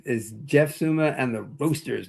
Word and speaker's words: Roasters: I go, "The name of the band is is Jeff Suma and the Roosters, not Roosters. You can't say Roosters." Right. Right. I gota spell it out.